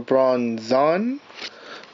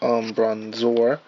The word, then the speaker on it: Bronzong: Okay, so we have a Bronzong. By the way, I mistakenly pronounced this one. This is Bronzor, but that's Bronzong.